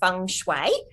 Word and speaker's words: feng shui: that correctly okay um feng shui you actually pronounce it feng shui um and feng shui actually mean feng shui